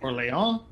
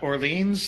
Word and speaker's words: Orléans: I actually posted a new review today of a game called Orléans, not Orleans, as Jordan likes to emphasize.